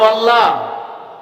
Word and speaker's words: আল্লাহ: অনেকেই বলেন নাই, একটু পরিষ্কার করে শুদ্ধ করে সুন্দর করে বলেন আল্লাহ। আবার বলেন শব্দটা উচ্চারণ আল্লাহ। আল্লাহ না, আল্লাহ তো কিউ বা কেন, আল্লাহ শব্দটা আল্লাহ। আমার আল্লাহ এমনই এক মাবুদ,